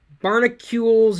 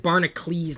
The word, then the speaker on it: Barnacules: Barnacules Nerdgasm. I think I said Barnacles last time.